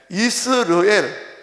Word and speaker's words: 이스르엘: 첫 번째 아들 이름이 이스르엘. 오늘 보면 나오죠. 이스르엘의 날이 클 것이미로다. 11절 끝에 나오잖아요. 이스라엘하고 발음 비슷한데, 이스르엘, 호세아와 고멜과 그 사이에서 태어난 자식 이름이 이스르엘이라고 해라.